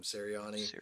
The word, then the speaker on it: Sirianni: Sirianni.